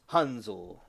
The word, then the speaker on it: Hansel: And my name is Hansel from Hansel and Gretle. And the pronunciation in German is Hunzel. And a lot of people say Hansel, but it's like Hansel, like Hansel and Gretle.